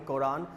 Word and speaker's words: Quran: हैं, English में it's known as Quran, C-K-O-R-A-N, Quran. It's pronounced like, will be pronounced the given one like Quran, okay.